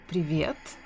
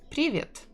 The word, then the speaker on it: привет: For example, the correct way is to say привет with stressing the second syllable, but if you say привет, a lot of people will still understand you, especially if you're a foreigner.